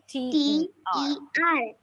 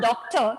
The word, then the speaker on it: daughter: DAUGHTER. Okay. How do we pronounce the word? It is daughter. Daughter. Daughter. Okay, mother and the daughter. Daughter. It is not doctor. That is different.